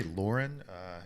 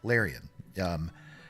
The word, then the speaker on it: Larian: The great thing about this company, Lauren, is that how you say it? Let's see. It's called, yeah, Larian.